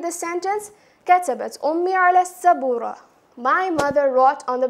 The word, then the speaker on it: السبورة: there's a ta marbuta, it will be pronounced more like a ha.